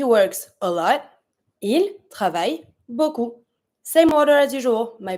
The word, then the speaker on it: beaucoup: To say a lot, beaucoup. Beaucoup, I don't pronounce my P.